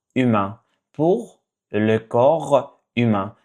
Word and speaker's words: corps: Next one is pour le corps humain. Pour le corps humain. So you don't pronounce the P and S.